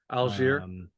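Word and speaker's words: Allgeier: Tyler, how do you pronounce his last name? Algier. Algier.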